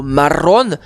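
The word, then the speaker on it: marrón: Autre exemple de cette catégorie, le mot marron. Alors attention avec de R et surtout un accent aigu sur le haut.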